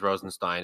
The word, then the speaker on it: Rosenstein: But if I said Rosenstein, which I might have misspoke because I'm No, just you said Rosenstein, and also it is Rosenstein.